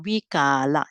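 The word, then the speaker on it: vikāra: When for those who don't learn Pali, when you see the long A here, you have to pronounce long. Vikala. So you don't read vikala, you pronounce it vikala. Just make it a little bit longer on the word ka.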